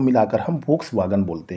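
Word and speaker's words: Volkswagen: अगली कंपनी है दोस्तों वोक्सवैगन, कुछ लोग इसे प्रोनाउंस करते हैं वोक्सवागन।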